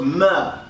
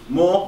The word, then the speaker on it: mr: So, the glyph for pyramid, phonetically, how you pronounce it was mer or more.